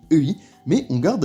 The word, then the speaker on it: 의: des cas la prononcer et tout simplement bah pour bien marquer que c'est son rôle de particule d'appartenance donc on retient ça s'écrit ei mais ça se prononce bien e on la prononcera quasiment